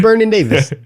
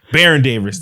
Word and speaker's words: Baron Davis: Random who's that who's bernon Davis I I I just butchered that like a I said bernon Davis who's the dude Baron Davis there we go yeah that's no listen